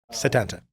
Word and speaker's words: Sétanta: And And Setanta, the the E has the accent, right? So, it is pronounced like an E.